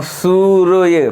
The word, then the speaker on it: सूर्य: अब सूर्य, पहले इस पे या के ऊपर रा लगा है तो सबसे पहले उच्चारण या से पहले रा का हो रहा है, या से पहले रा का उच्चारण हो रहा है सूर्य।